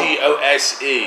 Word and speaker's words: Gose: G-O-S-E. Oh, Gose, that's presented. Gose, is that how you say it?